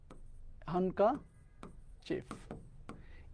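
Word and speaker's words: handkerchief: এইটার উচ্চারণ যদি আমি তোমাদেরকে লিখে দিই, এটার কিন্তু উচ্চারণটা আছে এমন, হানকাচিফ। এই যে এইটা আছে এটার উচ্চারণ কিন্তু এইটা হচ্ছে হানকাচিফ, ঠিক আছে? এটার উচ্চারণটা হচ্ছে এমন, হানকাচিফ।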